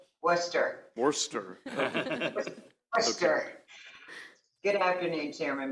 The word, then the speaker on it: Worcester: Witnesses first Karen Abbott from how do you pronounce I thought it was just Worcester it's Worcester Worcester Worcester okay good afternoon chairman Barbie Vice chairman